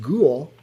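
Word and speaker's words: Gül: other stuff general manager gull pronounced ghoul so general manager ghoul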